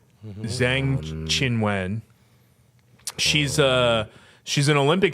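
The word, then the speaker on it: Qinwen: Zen Chien chinen uh qy is typically pronounced Chi right mhm Zen chinen she's a she's an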